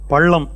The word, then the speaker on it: பள்ளம்: அப்பறம் உச்சரிக்கும் போதும் பள்ளம் அப்படிங்கும்போது அந்த பள்ளம் நல்ல சொல்லுங்க பள்ளம் அந்த ஈழ நல்லா விழணும் பள்ளம்னு சொல்லும்போது அதுக்குள்ள ஒரு குளி விழணும்.